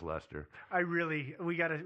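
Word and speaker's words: Leicester: Dudley uh Earl of leester and for those of you who are not British uh this is spelled it's spell leester leester uh but let pronounced Lester I really we got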